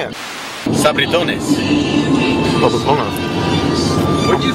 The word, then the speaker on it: Sabritones: Sabritones.